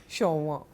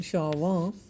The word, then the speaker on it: Chauvin: Next word is shauinism which comes from the name of a French soldier and a patriot Nicola Shawa. I'm giving you the French pronunciation shawa.